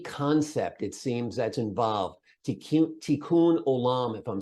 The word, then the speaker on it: Tikkun Olam: Tikkun Olam, if I'm saying it correctly, right? Yes, Tikkun Olam it means to heal the world.